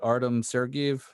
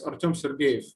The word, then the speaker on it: Artem Sergiev: name wrong but like artem sergiev yeah it's ortom sergey oh it was close close enough yeah